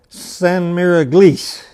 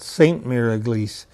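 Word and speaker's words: Sainte-Mère-Église: a little bird called san miraglis and that's the way the french pronounced it we'd call it saint marigliese if you have ever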